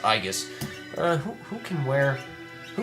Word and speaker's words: aegis: is a i guess aegis shield which i believe is pronounced igus uh who can wear